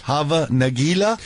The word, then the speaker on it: Hava Nagila: Hava Nagila?